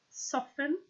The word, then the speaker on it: soften: T isn't always pronounced soften and often both have silent T's H you will find